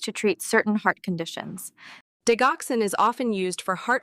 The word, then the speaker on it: digoxin: Because yes, apparently it's pronounced digoxin.